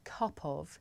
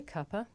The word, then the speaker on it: cuppa: of tea good now this is such a natural and common way to pronounce kapov that in British English the word copper actually means a cup of tea and after all